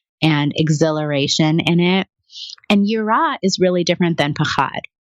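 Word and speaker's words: יראה: Well, and it's so interesting when you say yirah, if I'm pronouncing it correctly.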